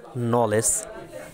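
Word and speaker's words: knowledge: যেমন rules number 1, শব্দের শুরুতে কে এন থাকলে তার উচ্চারণ হবে ন, এক্ষেত্রে কে উচ্চারিত হবে না। যেমন নলেজ, এখানে কে এন শুরুতে আসে, এখানে কে উচ্চারণ হবে না।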